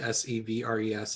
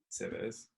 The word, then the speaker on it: Sèvres: Sevres. It's French. Okay. Sevres.